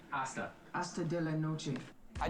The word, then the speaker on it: hasta: Hasta. You don't pronounce the H? Hasta.